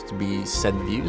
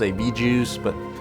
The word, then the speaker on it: VJUS: comprennent vraiment - - qu’il est censé être prononcé «views». Certaines personnes disent «V-Juice», mais ça va.